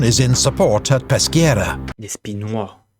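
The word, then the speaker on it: Despinoy: Despinois. We don't pronounce the S.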